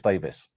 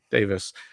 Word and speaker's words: Davies: Davies or Davis? I don't. How does he pronounce it? I think it's Davis. Davis.